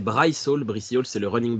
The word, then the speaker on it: Bryce Hall: C'est pas Brice Hall, c'est Bryce Hall.